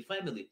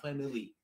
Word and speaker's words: family: Она неправильно ударение ставит. Не family, а family. В твоей голове зомби.